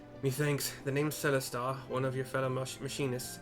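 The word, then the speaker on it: Celestaux: I'm pronouncing it that way because it's Charlie E-L-E Sam Tom A-U-X. And I believe X's in this region are pronounced as like like French, the French X, I think, I don't know.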